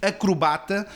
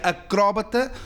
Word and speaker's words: acrobata: E vou ler aqui algo que diz: em suma, a forma correta moderna é efetivamente acrobata, que em Portugal costuma articular-se como acrobata. A pronúncia acróbata, historicamente mais correta, está hoje esquecida, a ponto-se a figurar errónea.